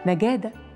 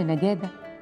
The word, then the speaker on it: نقادة: اسم نجادة بيرجع لبداية النطق باللغة العربية في المنطقة دي، وتحديداً في القرن ال17 لما كان الأهالي بيتكلموا اللغة القبطية، والاسم ده تحريف من اسمها القبطي نيكا داي، واللي معناها الفهم والمعرفة.